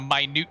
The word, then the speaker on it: minute: I hate the word minute. And the fact that it is spelled exactly the same as minute. These are the kinds of words that if you're somebody who's learning English and you get all the words and you get all the pronunciations, and then you're just like, oh, it was a very minute change. And then somebody goes to you and says, no, it was a minute change. You're like, excuse me, did you just make that up?